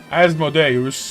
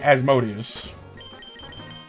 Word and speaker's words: Asmodeus: Like, depending on your pronunciation, you can go Asmodeus, because I mean, they're like it's more of a Latin pronunciation, but a lot of people just say Asmodeus.